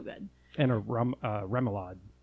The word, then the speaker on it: remoulade: and a rum uh remoulade how do you pronounce that remoulade remoulade what is yours well actually